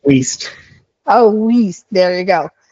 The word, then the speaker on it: Weist: So, today, uh, we have John from Weiss, uh, Business Law. Uh, did I pronounce it correctly, John? It's Waste.